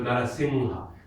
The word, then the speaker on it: Narasingha: So Narasingha, when we do singha, then the N we give it is the nga N. Ga ka ga gha nga. That one. So Narasingha.